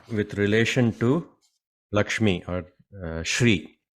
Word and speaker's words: Shri: So Shri, okay, so the word Shri is another name for Lakshmi. We have to pronounce it as Shri with the Sha sound. Sometimes Sri, no, but it's not really Sri, it's Shri, SHRI, right?